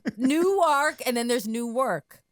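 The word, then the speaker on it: Newark: yes different delaware right that's how they pronounce it that way you have to say nuwark i think right i'm not even i have no idea i just pronounce words the right way no new ark and then there's new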